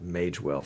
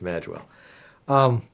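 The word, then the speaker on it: Magewell: and by the way I've been pronounced mispronouncing that mage wealth for years mistakenly so apparently I was correct no I definitely was corrected it's mad well so that's the two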